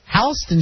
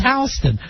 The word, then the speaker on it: Houston Street: would be route 66 a famous street in in new york houston street spelled exactly like houston and if you if anyone goes uh where's houston street you know it's a tourist because the people in new york get furious for whatever reason that this is houston when you know it's not because the man's name wasn't sam houston uh let me see